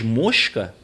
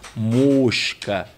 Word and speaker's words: mosca: terminada em a ninguém mas mosca era acentuada exatamente para marcar a pronúncia fechada né mosca é muito interessante eu